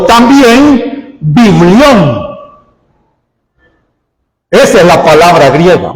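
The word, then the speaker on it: βιβλίον: Este nombre Biblia, hermano, es un vocablo griego que se pronuncia o se dice biblios o también biblión.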